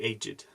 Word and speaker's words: aged: very old as the aged old-fashioned people who work with the aged middle aged middle aged middle aged it Wow so one word depending on meaning has different pronunciation aged aged how cool aid group